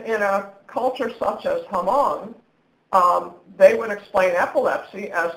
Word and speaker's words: Hmong: On the slide you'll see I talked about the Hmong perspective.